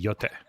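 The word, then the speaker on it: Yōtei: Yes, Ghosts of Yotai. I don't know. It's you a sequel. Don't emphasize syllables. All syllables get the same emphasis, so it would be Yote.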